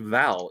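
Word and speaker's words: Vale: that's the thing is it's not even veale it's not pronounced Veil it's pronounced Val in Brazil yeah well I'm not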